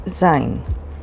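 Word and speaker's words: ז: The next letter is zayin, and it sounds like za.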